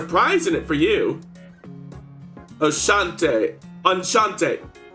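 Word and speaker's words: Enchanté: Enchante. Right. CH sounds are pronounced more like SH sounds.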